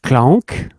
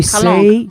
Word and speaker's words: K/Lank: In fact, the name we don't say clunk. Okay. We Calanque. say K / Well, that makes sense because you've got this. Lank. Oh, I apologize. Okay, and Calanque.